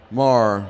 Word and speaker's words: Mayer: Marr. Marr. I always said it wrong.